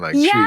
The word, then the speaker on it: Twii: People say Twii, and I like it Twii because it kind of westernizes it a little bit. You like the westernization? I don't mind it. Yeah. Instead of how it's actually pronounced but.